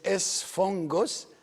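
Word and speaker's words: ⲥⲫⲟⲅⲅⲟⲥ: So the first one is pronounced an N. So it is esphongus, in Arabic sphinga, which is sponge, sponge.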